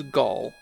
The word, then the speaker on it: Galg: a real disappointment and it is gall the trailing g is silent if you watch 30